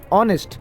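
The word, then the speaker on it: honest: रहता है ठीक है एज क्या है एज साइलेंट है इसलिए इसको ऑनेस्ट आता है तो इसलिए इसको बोला जाता है ऑनेस्ट ओके चलो नेक्स्ट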